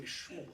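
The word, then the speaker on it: Smollett: Yeah, you have to say Schmollett.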